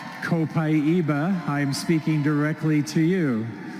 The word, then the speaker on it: copaiba: that you said that copaiba is supposed to be pronounced copaiba well it depends on what part of the world you're in who do we have here from Brazil today copaiba i'm speaking directly to